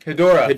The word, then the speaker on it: Hedorah: Hedorah.